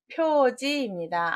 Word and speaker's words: 표지: 답은 표지입니다. 알식자인데 어떻게 지자가 되느냐? 기록할 지라는 뜻이 있습니다.